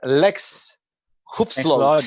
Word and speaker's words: Lex Hoefsloot: Lex Hoefsloot. Yeah. I owned the pronunciation of your name correctly.